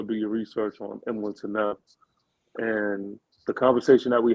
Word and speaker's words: Tunnell: How you pronounce his name? Tunnell.